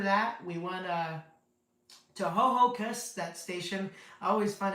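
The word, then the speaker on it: Ho-Ho-Kus: pronounced ho hocus, but it sounds like someone trying to say hocus pocus or something.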